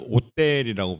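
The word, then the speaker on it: hôtel: 오 위에 사카 씌운 그 오자를 쓰고, 이제 프랑스는 H가 묵음이기 때문에 오텔이라 그러는데, 근데 프랑스에서도 숙박시설도 오텔이라 그러고요.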